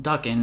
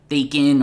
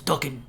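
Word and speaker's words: Daken: And yes, it is pronounced Duckan, not Dacan or Dhakan. I actually have a friend who's Japanese and he told me the correct pronunciation. It is Duckan.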